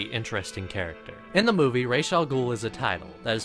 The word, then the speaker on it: Ra's al Ghul: In the movie, Ra's al Ghul is a title that is passed down, and